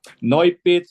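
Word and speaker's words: Noypitz: How do you spell that? No pits is n o y p i t z.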